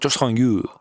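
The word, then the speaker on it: Joo Sang Yoo: Daniel Santos versus Jo Sang Yu. You have to say it like that, Jo Sang Yu.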